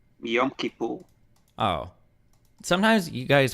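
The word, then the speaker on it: Yom Kippur: think I was saying yom kapor for a long time and then I saw I think I saw several Jewish people say literally yam kipper.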